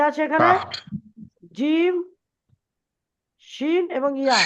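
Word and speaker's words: ج: মঞ্জিল হাসান ভাই ঠেকছে তো জীবটা আচ্ছা উচ্চারণ করেন কাফ বলেন কাফ কাফ তারপরে দেখেন কি আছে এখানে? জিম, শিন এবং ইয়া কি আছে?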